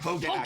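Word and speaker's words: Hogaak: I didn't know that gack is how you say this. What do you all call it? Hogak. Very famous. Summer of the Gak. It is Gak. Like the Nickelodeon slime?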